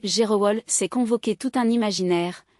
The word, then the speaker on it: Gerewol: Chez les Wabé prononcé, Gerowol, s'est convoqué tout un imaginaire, la poussière soulevée par les pieds nus.